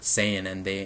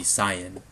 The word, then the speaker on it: Saiyan: And that's understandable, but because people have just grown up with Saiyan, and that's how they think it should be pronounced in English. But technically, it actually should be Saiyan.